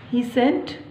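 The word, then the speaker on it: pheasant: Third line is, यहाँ P silent रहेगा। ही सेंट तीतर, वुडपेकर कठफोड़वा, बैट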